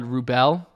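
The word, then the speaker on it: Wrubel: to pronounce it but it's called rubell rubell that's how you pronounce it so i was thinking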